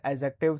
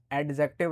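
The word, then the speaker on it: adjective: तो यह जो ऑप्शन है इसमें से आपको कंपाउंड एडजेक्टिव चाहिए। पहली बात तो इसको एडजेक्टिव नहीं पढ़ेंगे। एडजेक्टिव पढ़ेंगे। ए और जे के बीच में डी आता है तो साइलेंट हो जाता है एडजेक्टिव।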